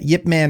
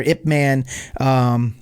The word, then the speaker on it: Ip Man: And same thing with Yip Man or Ip Man. They both actually are correct.